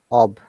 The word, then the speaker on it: of: Remember, OF is always ob.